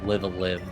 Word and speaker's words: Live A Live: Uh but like this is also the era where live and uh sorry, live a live, that's the official pronunciation even though I hate it.